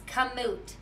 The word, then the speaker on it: Kamut: using what you're using do you pronounce it commute or commute it's kamut kam Utena coming and what it is it's an Egyptian word for wheat that's what it